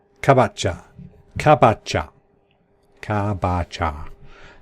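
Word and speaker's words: かぼちゃ: minute have written it down in Japanese it's kabocha cab at cha cha cha that's pumpkin [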